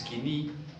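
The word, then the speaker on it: Koine: un griego popular aunque se escribe point la pronunciación es kini kini obligó popular que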